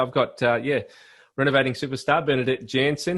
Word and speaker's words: Janson: Yeah, it's just like young with an N in front, and you've actually said it very, very well.